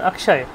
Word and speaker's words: অক্ষয়: আচ্ছা, ওই ক্ষেত্রে সুর, আর যখন অক্ষয় তখন কয় স্বর, মানে কয়ের উচ্চারণটা থাকছে।